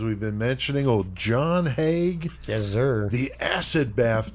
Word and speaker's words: Haigh: I heard it pronounced Haigh, and I also heard it pronounced Hay, but I'm going to go with Haigh. It's a little bit easier with other words. So let's go with the more prevalent of the two.